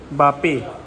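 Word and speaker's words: Mbappé: फिर एक वो फ्रांस का था, बापे, लेकिन उसके बाल थे। कुछ तो था। MBAP था यार। ओ हाँ, M साइलेंट होगा, बापे ही होगा नाम, मुझे तो ऐसे ही लगता है।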